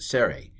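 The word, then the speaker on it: Tsere: schwa sorry again a it's pronounced a sorry i mean the name of it serie a it has an a in the name serry this hay it's a vowel combination a serie hey um so it's this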